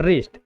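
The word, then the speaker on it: wrist: इसे पढ़ते हैं राइट, रॉन्ग और रिस्ट। जहां पर डब्ल्यू तीनों में क्या है? साइलेंट है।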